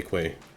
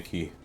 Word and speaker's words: Quay: in my about page I say Quay I don't say key that's how it's pronounced it's q u that's what you say